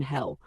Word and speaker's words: Hel: Hello. Introduction. Who is hell? Hell, pronounced hell like the English word, is the Norse goddess of the underworld, not to be confused with the Christian hell.